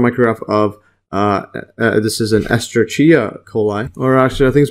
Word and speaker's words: Escherichia coli: So electron micrograph of this is an Escherichia coli, or actually I think it's pronounced Escherichia coli, or E.